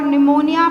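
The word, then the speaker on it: pneumonia: निमोनिया mp4 प्रो फॉर निमोनिया P silent निमोनिया like को like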